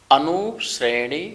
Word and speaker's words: अनुश्रेणी: यहाँ पर थोड़ा सा साउंड देना शा का उच्चारण में।